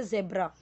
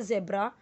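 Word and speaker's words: zebra: तो इसे पढ़ेंगे ज़ेब्रा, ब्रिटिश इंग्लिश में इसे पढ़ेंगे ज़ेब्रा। लेकिन अमेरिकन में अगर हम देखें तो इसे पढ़ेंगे ज़िब्रा, ज़िब्रा। तो ये आपको ध्यान देना कि कहीं पे अगर आपको इसको ज़िब्रा प्रोनाउंसिएशन मिले तो आप ये मत सोचिए कि ये तो ज़ेब्रा बोलते हैं इसको।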